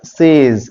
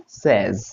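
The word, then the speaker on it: says: शी सेज, सेज नहीं होता, इसको सही तरीके से प्रोनाउंस कैसे करेंगे, इट्स नॉट सेज, इट इज सेज।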